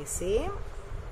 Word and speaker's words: ऐ: इसका उच्चारण होता है ए और इसका उच्चारण होता है ऐ।